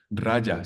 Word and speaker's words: Raja: los maestros las conferencias raya se escribe con j raja raja yoga es muy interesante